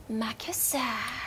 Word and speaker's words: Makisa: Dan aku spin cara pronounce-nya, di mana aku nggak bilang Markisa, tapi Makisa. I see.